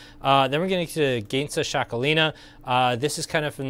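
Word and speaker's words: Txakolina: sell better is like the name is spelled uh t-x-a-k-o-l-i-n-a it's shakolina but i couldn't have told you that unless i knew it um fantastic like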